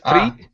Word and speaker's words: treat: Give me a ch instead of treat true treat tree treat. Yeah.